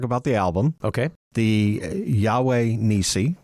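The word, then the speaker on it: Yahweh Nissi: The Yahweh Nisi.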